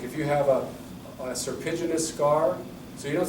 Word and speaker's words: serpiginous: You know, like if you have a serpiginous scar, so you don't say a curved scar, that's one syllable. Serpiginous, like a serpentine, serpiginous scar.